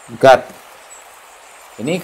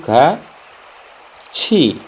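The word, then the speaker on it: 같이: Tapi karena bertemu i maka ini tidak dibaca gati, tidak. Tapi dibacanya itu gaci. Karena tiet bertemu i, maka tiet itu dibacanya c. Jadi kaci, ya, kaci, oke, bukan gati, bukan, tapi gaci.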